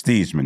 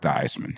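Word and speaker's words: Theismann: when thieman was there it's thieman not thyman he went to Notre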